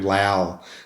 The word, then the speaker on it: Lowell: What I loved about Dad was he's a muso, and my name, actually, just to sidetrack a bit, my name Lowell is how you actually pronounce it.